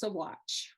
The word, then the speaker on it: Saguache: So, and it's pronounced Saguache.